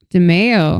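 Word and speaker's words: DiMeo: DeMeo? Yeah. Oh, like DeFeo. So DeMeo, literally the only difference between DeMeo and DeFeo is the M and the F.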